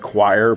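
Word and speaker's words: coir: I think it's pronounced coconut choir but man it really just doesn't not come off the the tongue very nice.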